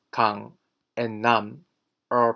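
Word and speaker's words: 남: Again, the vowel sound doesn't change, so the pronunciation isn't name, or nam, or nem, but nam.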